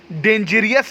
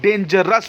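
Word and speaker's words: dangerous: करेज का हो गया करेजियस, डेंजर का डेंजरियस नहीं होता, डेंजरस होता है।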